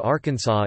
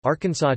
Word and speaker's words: Arkansas: It should be pronounced in three syllables, with the final S silent, the A in each syllable with the Italian sound, and the accent on the first and last syllables.